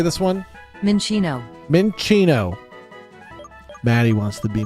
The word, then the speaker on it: Minccino: Mincinco, if it has Tactician, can be a murderer.